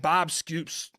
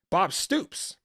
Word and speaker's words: Bob Stoops: I don't think Bob Scoops. See, this is what I get for trying to rush to the game. Damn you, Seattle, for playing at 9 p.m. Bob Stoops.